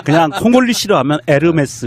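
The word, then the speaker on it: Hermès: 아 그냥 홀리 싫어하면 에르메스 입니다 이렇게 지욱 발음이 안 난다 면서 요금이 에서 h 가 발음이 안 되니까 우리가 운무 도 호 무라 고 안하잖아요 암흑에 프랑스 요 남자로서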